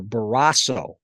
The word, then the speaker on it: Barrasso: pronounce it Barrasso or Barrasso? Mhm. And he looked at me and he said, "Kid, I don't care." So that was great. But I went with the flat A Canadian pronunciation for it, Mhm.